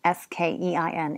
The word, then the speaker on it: skein: The correct pronunciation of skein, S-K-E-I-N, is skein with a long A, with a bar over the A.